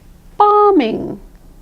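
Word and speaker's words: bombing: It's there in spelling, but it's not there in pronunciation. This is also true with BOMMING, BOMMING.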